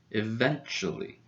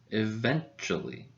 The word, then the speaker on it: eventually: goes in this word the stress goes in the second syllable then so this syllable is a little bit louder in volume eventually eventually now before i give